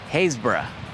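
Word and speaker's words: Happisburgh: Behind me is a town that's famous for its non-phonetic spelling. I'll put the name of the town on the screen here. It's pronounced Haysborough.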